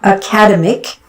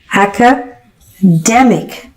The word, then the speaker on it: academic: okay it is not academic it okay it is academic it is academic academic the stress is on the middle okay acemic academic this